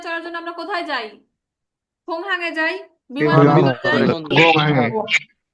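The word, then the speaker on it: 공항: বিমানবন্দর যারা গোংহাং গোংহাং বলতেছেন, গিউকের উচ্চারণ প্রথমে থাকলে কিউ, মানে ক্ষয়ের উচ্চারণ করবেন। ঠিক ক্ষয়ের উচ্চারণ করবেন। খোংহাং। ঠিক আছে গয়ের উচ্চারণ করবেন না, যেরকম যে গুকজাং, এখানে গয়ের উচ্চারণ করবেন না। খোংহাং, এখানে খ বলবেন, এখানে খ বলবেন।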